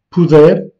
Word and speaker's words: puder: Donc, futur du conjonctif s'écrit avec un U, comme par exemple puder, puderes, puder, pudermos, puderdes, puderem. Dans toutes les formes, la voyelle tonique est lue comme est. Donc c'est un E plutôt ouvert.